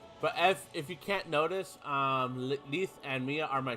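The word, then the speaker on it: Lethe: Which I've been saying her name wrong all my years. I always called her Letty. Because that's just how I read it, is Letty. And that's what I always been calling her, but her name's actually Leith. So yeah, fun fact, I've mispronounced her name all this time as Letty to Leith.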